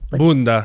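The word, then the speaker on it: Bünda: And I think you need to say it like Bunda. There you go. Okay, well, it did live inside me. I think maybe I put too much sauce on Bunda.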